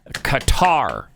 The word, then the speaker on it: Qatar: I refuse to call that nation gutter. Thank you. Whatever the dumb name is. Thank you. H I appreciate that more than you know. Qatar. It's It was Qatar when I was uh Zygod. It's still Qatar to me.